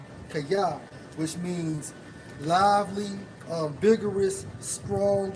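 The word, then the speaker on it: chayeh: And Miss Bowles, man, when you go into their term in the Hebrew for lively, it's Strong's H 2422, pronounced as kaya, which means lively, vigorous, strong, and robust.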